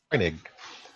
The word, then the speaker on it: Heinig: Heinig? How do I pronounce it? Heinig. Heinig. Yes.